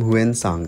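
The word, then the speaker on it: Xuanzang: तो एक Chinese traveller था जिसका नाम हुएन सांग था। बेसिकली लोग इसके प्रोनाउंसिएशन बहुत गलत करते हैं, क्योंकि ये चाइनीज़ नेम है, बट जो मैं प्रोनाउंसिएशन कर रहा हूँ वो बिल्कुल करेक्ट है, क्योंकि मुझे चाइनीज़ थोड़ी थोड़ी आती है।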